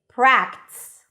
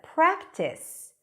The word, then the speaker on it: practice: For example, if you say practice instead of practice, where people expect to hear two syllables because there are two vowels there, practice, but you kind of like merged it into practice, and these are real